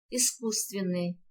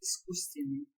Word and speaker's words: искусственный: д не произносится сердце искусственный здесь произносится о с пишется два с искусственный ребята Ответьте на эти